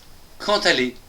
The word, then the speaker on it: quand allez: Attention, ici c'est un D et un A qui va se prononcer ta.